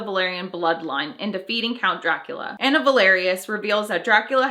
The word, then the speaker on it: Dracula: I'll never forget, he was really angry that the actor that played Dracula mispronounced Dracula. He said Dragulia instead of Dracula, and my dad was like, why didn't he say Dracula?